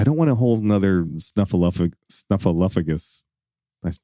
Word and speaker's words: Snuffleupagus: I don't want to hold another snuffleupagus. I said it wrong again. Snuffleupa. How many episodes are we going to mispronounce snuffleupagus?